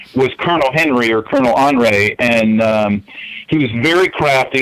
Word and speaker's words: Henri: Kind of slippery, but I guess Henri is the proper way to say his name in French. Oh, okay. I would think of Henry, but Bleicher, Hugo Bleicher